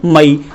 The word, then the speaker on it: May: जिस किसी भी इंग्लिश वर्ड के एंडिंग में AY हो उसका उच्चारण होता है एई, तो ये हो जाता है मई।